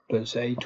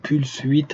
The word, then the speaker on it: Pulse 8: Pulse 8 ou Pulse 8, hein, ça dépend si tu veux le prononcer à la française.